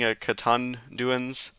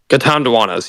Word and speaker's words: Catanduanas: Here, is this the island that you were saying, Catanduans? Catanduanas, yeah, that's how it's Okay, pronounced.